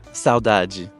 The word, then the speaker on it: saudade: Saudade. Saudade.